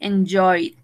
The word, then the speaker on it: enjoyed: Enjoy, enjoyed. Stay, stayed. ¿Yes? De igual manera, no pronuncio esta E, no pronuncio esta E, no pronuncio esta E. Played, enjoyed, stayed.